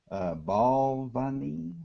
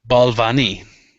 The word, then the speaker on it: Balvenie: Balvenie, I believe is how you pronounce it. Balvenie.